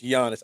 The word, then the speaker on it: Giannis: The G is silent. Yeah, it's Giannis.